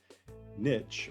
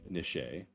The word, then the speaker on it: niche: community ecosystem biome habitat Niche or nishe I know I pronounce it with a t there's no actual T but some people say it as niche but it's really nishe it's a not an